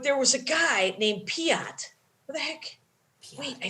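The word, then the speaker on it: Piotre: Is it P-I-A-T? Piatre. It's spelled P-I-O-T-R-E, Piatre. Oh. But it was pronounced Piat.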